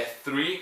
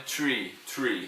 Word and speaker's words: three: É three. Cuidado que é muito comum as pessoas falarem tree.